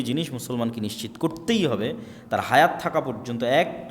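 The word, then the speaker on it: Torah: তোরাহ বলে ইহুদিরা উচ্চারণ করে যে তোরা যখন তাওরাত দেওয়া হলো।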